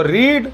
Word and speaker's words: read: read ही बोलते हैं, उसको लिखते हैं read मगर बोलते हैं read, तो रीड रेड रेड।